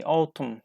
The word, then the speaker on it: autumn: Cindy LAN yes okay Alton we don't pronounce n here and number 5 GN